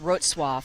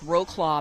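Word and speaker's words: Wrocław: with the um rose i believe it's pronounced rootsworth but it looks like roe claw panthers in poland so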